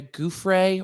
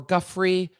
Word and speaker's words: Giuffre: the lawsuit brought by virginia goof ray or guffrey i i vacillate in how i pronounce her last name gouffrey is um one of